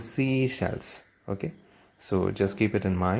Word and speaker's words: Seychelles: And the seashells, that is pronounced as seashells.